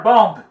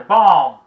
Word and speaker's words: bomb: Mas eu vejo muitas pessoas pronunciar bomb, mas o B não é pronunciado, é bomb, bomb, bomba, bomb.